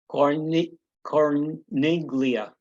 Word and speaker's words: Corniglia: Corniglia. Part of my pronunciation.